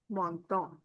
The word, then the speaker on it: menton: This is O N sound. And this is also O N sound, menton.